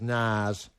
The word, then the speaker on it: Nas: hip-hop is dead and the pronunciation is nars but you can say nasa if you want to and everybody will understand what you mean uh bills will ring